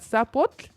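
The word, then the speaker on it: Tzapotl: And for people who might be asking how do you pronounce that? That sapot comes from the word sapote which is a fruit in El Salvador.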